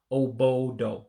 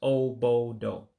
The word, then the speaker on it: obodo: Oh-Boe-Doe. So just 3 syllables. Oh-Boe-Doe for country.